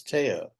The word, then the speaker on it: Thaao: I heard I heard the recording pronouncing my name thou. It's Teao.